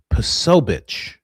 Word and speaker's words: Posobiec: Oh, I mispronounced it. It's Posobiec.